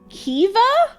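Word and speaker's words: Caoimhe: Kame is pronounced Kiva?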